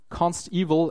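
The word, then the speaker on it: consteval: pronounce it right because it's not evil as it's been something bad it's evil as in evaluated at compile time it's guaranteed in comparison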